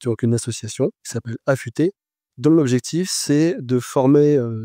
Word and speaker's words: Afuté: autre structure, qui est donc une association, qui s'appelle Affûté, dont l'objectif c'est de former ces personnes à un métier.